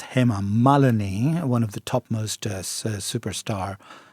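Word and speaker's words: Hema Malini: It's not himalini it's him malani one of the topmost superstar of female superstar of Bollywood industry.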